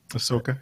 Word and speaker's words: Ahsoka: Ahsoka, is that how you pronounce her name? Is that it? Mm-hmm. Ahsoka, yeah.